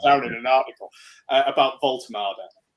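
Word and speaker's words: Woltemade: in an article about Voltada. That's the pronunciation. We're not calling him Voldemort. We're not calling him Vault Maid or whatever the hell else anyone's calling is the one.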